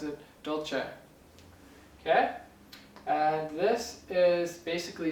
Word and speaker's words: dolce: This one can be pronounced dulce, dolce, or probably a few other ways, but I usually pronounce it dolce.